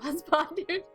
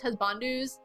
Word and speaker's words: Husbandu: It's because when you get me on the topic of husbandus. By the way, it's talked about how it's not pronounced husbandus. It's actually would be Husbandu, but I pronounced it